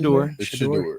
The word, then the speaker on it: Shedeur: Is that how you pronounce it? Shedeur.